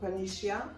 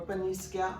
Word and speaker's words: Paniscia: the pon region it's called Panisha or panisa all depending on how you pronounce it and basically it's